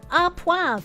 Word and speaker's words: au poivre: It's pronounced à poivre. Oh, à poivre sounds better than poivre.